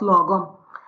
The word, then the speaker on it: lagom: yes absolutely so uh the title is uh pronounced logo and the reason why this came about was